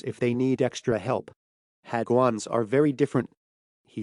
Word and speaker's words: hagwon: It is pronounced hagwon.